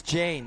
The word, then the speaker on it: Jane: Did I say Yane? It's Jane Ratanache. Yes, I apologize. I let of that course. one slip through because I thought maybe you know something. Maybe she likes to pronounce it Yane, which is a very New Zealand thing to do, but in fact it's just Jane.